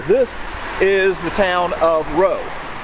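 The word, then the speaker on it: Rots: town right here this is the town of row it's spelled r-o-t-s so an american redneck like me would have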